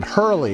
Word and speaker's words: Harrell: Harrell, actually, he did tell me how to pronounce his name. Hurley, that's what it was.